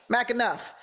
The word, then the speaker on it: McAnuff: influencer and comedian McAnuff. I got you right? Yeah, you got it. McAnuff.